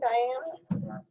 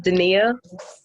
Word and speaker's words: Dania: Good morning, Diana. Dana. Good morning, good morning. It's pronounced Dania.